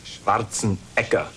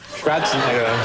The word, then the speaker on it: Schwarzenegger: Actually, in Austria, they pronounce it Schwarzenegger. Schwarzenegger.